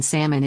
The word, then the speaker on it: salmon: shrimp salmon fish Etc notice that the letter L in Salmon is silent it's pronounced salmon thanks